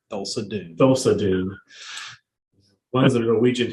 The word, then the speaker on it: Thulsa Doom: Thulsa Doom.